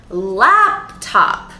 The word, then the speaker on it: laptop: Which is the stressed syllable? The first one. Laptop.